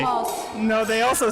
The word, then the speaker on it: Hamas: No, the cha is kind of like a giveaway on what side you're on. A giveaway? Yeah. That's what they say. Hamas.